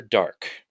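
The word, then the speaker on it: Darque: Master Dark. And that's dark spelled with a Q-U-E at the end.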